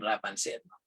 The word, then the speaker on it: Rapunzel: Kung nasan si Rapunzel, Rapunzel, not Rapunzel, all right? Dito sa Pampanga, ang pronunciation namin dyan, Rapunzel. So it should be Rapunzel.